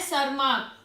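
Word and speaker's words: Tschermak: कौन थे वन सरमा इसे हम बोलते हैं सरमा टी यहां पर साइलेंट होता है ठीक है तो आप साइंटिस्ट का नेम मत बिगाड़ देना इसको बोल के ठीक है तो ये यहां पर क्या है साइलेंट है इसे हम क्या बोलते हैं सरमा बोलते हैं ठीक है तो वहां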